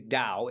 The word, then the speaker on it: Tao: very hard to pronounce because they're spelt like it's spelt taoism or towers but obviously then it's it's dao it's taoism and it's spelt the tao tae ching but obviously it's like the dao de jing i guess